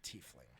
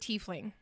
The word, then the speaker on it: tiefling: guys let me know i have always heard it tiefling i recently was told the pro the the pronunciation was tie fling no it's a tiefling i've always heard it tiefling have you guys ever heard it pronounced tie fling because t-i-e i see why they would say that t-i-e is tie this lobart says no